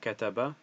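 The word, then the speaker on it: كَتَبَ: So first it will give you the Arabic and then how to pronounce it, kataba.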